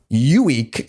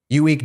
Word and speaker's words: Ueeck: the farmer named Elmo Uweek, and it's a weird name, literally Elmo, and his last name is spelled Ueeck.